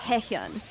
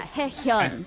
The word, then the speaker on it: Haehyun: The name is Yes, pronounced please correct. Haehyun. Haehyun? Haehyun. Yeah, Haehyun. Hyun. It's a sound that does not exist in Japanese, so that's why you hear hyun a lot. But it's Haehyun. It's Haehyun. exactly how it's spelled.